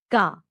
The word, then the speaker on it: क: The first कसोनेंट ऑफ द का वर्ग इज का। का इट is pronounced like the का इन the word kite as used in the word